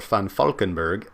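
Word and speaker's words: Valkenburgh: a Vulcan Berg or fund Falkenberg as should be pronounced I believe in Deutsch said this was a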